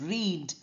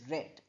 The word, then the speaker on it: read: Remember this verb the present and the past are spelled same but in present tense we pronounce it as read and in past tense we pronounce it as read.